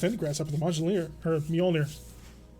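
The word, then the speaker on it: Mjölnir: grasshopper the magellaner her mjolnir mjolnir i always got to remember that that's weirdly pronounced being you know scandinavian all right talos took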